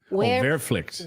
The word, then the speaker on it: Wehrpflicht: Okay, so they're saying they need to make plans for a Warpflicht. How do you say that word? Warpflicht. What word are you pointing to? This word, Werpflicht. No, Werpflicht. that one. Wehrpflicht.